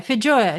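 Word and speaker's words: feijoa: Is that how you pronounce it? I don't get the second one. Oh, F-E-I-J. Oh, Fijoya.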